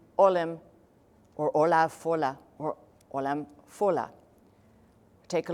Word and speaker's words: Ollam Fodhla: Ollam Fodhla. Or if you're going to pronounce the letters that are not supposed to be pronounced, Fodhla, right?